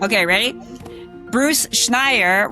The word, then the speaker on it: Schneier: Bruce Schneier, I did it, did I get it right? Nope, Schneier, rhymes with frequent flyer. Schneier, okay, ready? Bruce Schneier, rhymes with frequent flyer,